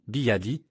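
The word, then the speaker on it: 比亚迪: Mais les caractères sont prononcés comme Biadi.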